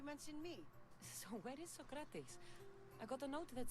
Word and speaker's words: Socrates: so I can't say so crowd these Socrates that's it that's how I've been taught to pronounce it I guess if that